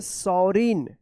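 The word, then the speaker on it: sovereign: तो इस तरह से जो है आप एन से पहले अगर जी आता है तो जी का उच्चारण नहीं होगा।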